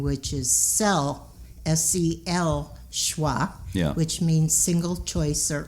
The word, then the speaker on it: Seul Choix: changed the name to sis schwa right and i go by the original french pronunciation which is cell s-c-l schwa which means single choice